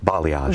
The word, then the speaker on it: balayage: And how do you pronounce that again? Balayage.